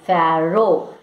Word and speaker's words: pharaoh: pronunciation is fair i repeat it it is pharaoh so don't mispronounce the word so egypt's boy pharaoh titan